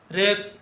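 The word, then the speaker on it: wrap: बी का 85 वि letter is silent in wrinkle रेप wrist तीनों में क्या साइलेंट है? तीनों में डब्लू साइलेंट है। जब भी आर से पहले डब्ल्यू लिखते हैं तो डब्ल्यू साइलेंट होता है।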